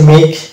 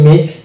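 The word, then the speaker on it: make: সো my dear viewers, আপনারা দেখতে পাচ্ছেন যে এই শব্দগুলোতে এটা যেমন হচ্ছে মেক, এখানে ই এর উচ্চারণ আসছে না, ই বাদ, ওই জন্য এটা হচ্ছে মেক।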